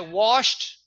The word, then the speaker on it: washed: But I say, and I don't pronounce the SH. I'm a Spanish speaker. I say watch it. I do SH like CH and I put the ed, which is wrong.